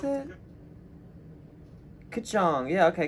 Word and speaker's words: Kkulchong: So wait, how do you pronounce it? Kkulchong. Yeah, okay, Kkulchong.